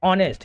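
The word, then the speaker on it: honest: ऑनेस्ट नहीं बोलते इसको। क्या बोलते हैं? ऑनेस्ट। यहां पर क्या होता है? एच साइलेंट होता है।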